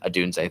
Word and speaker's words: Odunze: Adunze, thank you.